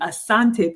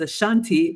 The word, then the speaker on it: Asante: and I come from the Asante people on my dad's side which has been pronounced as a Shanti by the British and Mr Richard if